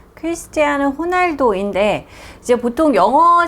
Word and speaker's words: Ronaldo: 타임지 인물은 요 유명한 축구선수 쩍 퀘스트 않은 호날도 인데 이제 보통 영어 스펠링 으로 봤을 때 널 로 시작해 보이기 때문에 먼 하우 떠오라고 얘기를 하기도 하는데요 이제는 뭐 다 후 날도 라고 알고 있기 때문에 그렇게 발음을 하는 것이